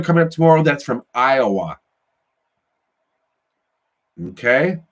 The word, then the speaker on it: Iowa: I got a video coming up tomorrow that's from Iowa. Okay? That's EYEOWUH. Iowa.